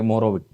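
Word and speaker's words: Mohorovičić: spelling वैसा ही है मोहरो सी दो बार लिखते हैं लेकिन बोलते हैं एक ही बार है मोरोविक तो इन लोगों ने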